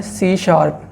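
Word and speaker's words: C#: सी सी plus plus सी हस लिखा हुआ है लेकिन आपने इसको प्रोनाउंस किया करना है सी शार्प और यहां पर पाइथन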